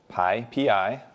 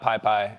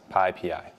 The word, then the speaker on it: PyPI: Python Package Index, which is how do you pronounce that? The answer is PyPI, and I made this handy graphic for all of you just so you can remember. All right. So not pi pi, not anything else, PyPI.